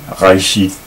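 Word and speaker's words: ראשית: Notice that second time around I pronounced the R a little bit differently. That's really the way that it should be pronounced. I don't always get it right, but it should be pronounced like the R in French, as in the word French word rouge, which means red.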